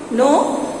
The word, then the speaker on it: know: K-N-O-W, no is pronounced no. N-O, no is also pronounced no.